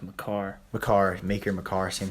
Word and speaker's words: Makar: oh that's like 80 right now it's always pronounced makar the car maker makar same thing he was